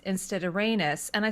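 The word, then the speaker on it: Rhaenys: time that I said rainey's instead of raynus and I said but it rhymes with anus so I've always said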